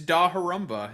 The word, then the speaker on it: Dahorumba: Uh, what is how do you pronounce that? Oh, my name? Yeah. Uh, it's it's Dah Harumba.